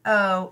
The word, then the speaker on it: know: And n-o, no. This one's a little tricky. We have that silent letter K in there. It tries to trick us, but we know not to let it.